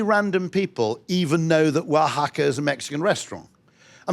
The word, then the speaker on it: Wahaca: I mean, there isn't even a W in Spanish, okay? They spell it like that because it's phonetic. It's actually spelled with an X in Mexican Spanish.